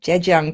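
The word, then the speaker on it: Zhejiang: going Oh Dave Daniels is saying I actually pronounce that correctly Jed Jung province I have a little bit of a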